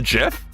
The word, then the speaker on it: GIF: You have a problem with me saying GIF? The correct way to say it as said by the creator of the GIF? And using J, a completely valid way to pronounce a G? Like, it's GIF, not GIF!